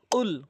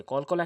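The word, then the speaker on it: قُلْ: যায় এখানে অধিকাংশ লোক কুল বলে যার ভুল অর্থ হচ্ছে রাসূল আপনি খান নাউজুবিল্লাহ আর কফটি যদি জিহ্বার গোড়া উপরে তালু থেকে উচ্চারণ করেন তাহলে সঠিক অর্থ দাঁড়াবে কুল কফ এভাবে কফ কুল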